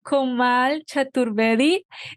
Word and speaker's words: Komal Chaturvedi: this morning and afternoon in India we have komal chaturvedi that's how you pronounce it yes yes okay we are so